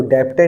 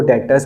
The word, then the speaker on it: debtors: अब देखा जाए इसके स्पेलिंग के अंदर DEBTORS है, तो इसमें जो बी जो होता है बेटा, बी साइलेंट होता है, इसको डेप्टर नहीं पढ़ते, इसको डेटर्स पढ़ा जाता है।